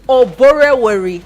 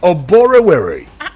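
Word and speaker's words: Oborevwori: How do you pronounce it? Oborevori. Oborevori.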